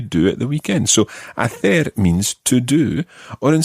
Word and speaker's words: hacer: Hacer. Now, hacer is spelled H-A-C-E-R. And if you're in Latin America, you'd be saying hacer.